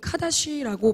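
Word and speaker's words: קדוש: 거룩한 자가 되게 하라 히브리어로 거룩은 카다 쉬라고 발음을 합니다 이거 룩에 뜻은 요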